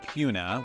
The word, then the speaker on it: Kuna: and it's it's pronounced Cuna with like a q even though it's a K in Cuna Idaho and it is